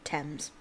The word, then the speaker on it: Thames: floating in the thames see what i mean by the th they pronounce i know that looks like thanes but they pronounce it thames the watch searched uh